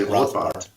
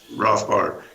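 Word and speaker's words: Rothbard: libertarian named Murray Ro I don't know how Americans say it Germans would say rothbart yeah rothbart and he was um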